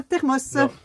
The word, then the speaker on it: thermos: Ouais, avec un S. Vous êtes plein le prononcer avec un S, ça me rassure. Un thermos. Un thermos.